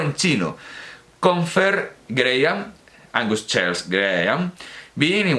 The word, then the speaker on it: Graham: Angus Charles Graham, se pronuncia Graham, que la H no se pronuncia, Graham.